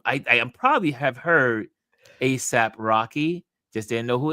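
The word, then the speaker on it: A$AP: ASA. Should I be saying ASAP? Say ASAP Rocky, but okay.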